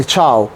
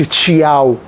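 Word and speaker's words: ciao: الاي مش مكسوره قوي زي مثلا تشاو تشاو ما بقولش تشياو تشاو تشاو تشاو الشي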